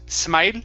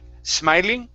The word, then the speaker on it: smiling: good and and also smiling instead of smile smiling okay push the tongue forward smile smiling smile